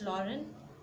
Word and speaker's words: Lorraine: Then Alsace and Lorraine, the pronunciation is Alsace, and second it's Lorraine, the two French districts that had passed into Prussian hands.